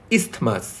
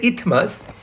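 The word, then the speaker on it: isthmus: মাঝের এই অংশটার নাম ইসথমাস। এখানে লেখে ইথমাস। ইথমাসও বলা যায়। ইসথমাসও বলা যায়। দন্তস উচ্চারণ করা যেতে পারে।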